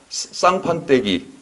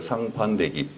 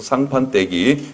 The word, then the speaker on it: 상판대기: 읽을 때는 쌍판떼기 이렇게 좀 강하게 읽혀 이게. 근데 쓸 때는 상판대기라고 써야 돼요. 상판대기. 앞에 상 얼굴을 뜻하는 말이고 다음에 뒤에 대 디귿은 앞에 니은 때문에 된소리가 돼가지고 떼라고 읽혀요. 그래서 상판떼기 이렇게 읽히는데 쓸 때는 예사소리로 써야 되겠죠.